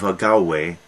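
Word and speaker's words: Agave: cadmus the son of agaway a g a v e or a-g-a-u-e is spelled both ways and she when dionysus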